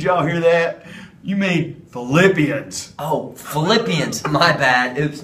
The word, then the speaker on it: Philippians: So since Philippians sounds like the word flip, let's flip our hands back and forth to remember Philippians.